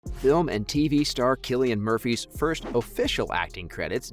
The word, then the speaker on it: Cillian: and tv business killian which yes is actually pronounced killian was entertaining fans on stage when he once